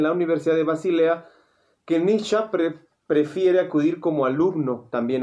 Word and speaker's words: Nietzsche: Nietzsche, se pronuncia Nietzsche, pero normalmente decimos o Nietzsche, o Nietzsche, ¿no? Pero es Nietzsche.